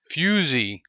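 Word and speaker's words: fusee: now on rare Ro fusey fusy and it's pronounced fusy fyo o- Z with a long e it's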